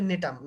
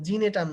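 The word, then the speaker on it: Gnetum: আচ্ছা, এখন একটা ব্যতিক্রম আছে নগ্নবীজীর মধ্যে, সেটা হচ্ছে নেটাম। নাম কি? নেটাম। জিনেটাম না কিন্তু, ঠিক আছে? উচ্চারণ করতে গিয়ে তোমরা অনেক সময় জিনেটাম উচ্চারণ করো, জিনেটাম না, এটা নেটাম। ওই জিটা উচ্চারণ হয় না, উজ্জ থাকে, ঠিক আছে?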